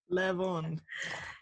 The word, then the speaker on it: Lavande: Lavande. Like really bad. To a non-native English speaker there, that I pronounced lavender nice the first time.